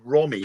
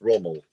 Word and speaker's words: Rommel: it when you said Romy earlier on. That's Rommel.